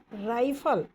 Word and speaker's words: rifle: राइफल, रिफल नहीं, राइफल, RIFLE, राइफल पढ़ेंगे इसको। राइफल, राइफल, राई प्रोनाउंसिएशन सही होना चाहिए, तभी आप वर्ड को लिख पाएंगे।